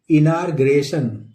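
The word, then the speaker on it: inauguration: ओ एन इनार ग्रेशन इसको क्या पढ़ेंगे दोस्तों इनार ग्रेशन इनार र साइलेंट होता इनग्रेन इना ग्रेशन इनग्रेन इसकी मीनिंग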